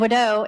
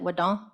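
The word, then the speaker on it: ᏩᏙ: And Wadeau is thank you in Cherokee. So a lot of our elders, my grandmother always pronounced it Wadon, is how we would say it.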